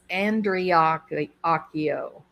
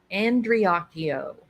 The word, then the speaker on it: Andreacchio: to say their name it's Andrea Akio andreakio there's no Cha Cha Cha in it okay it's disrespectful it's